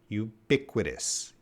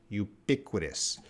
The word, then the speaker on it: ubiquitous: is an adjective and this is how we pronounce it so it's a you repeat after me you pick with us ubiquitous ubiquitous now it's not that difficult if you just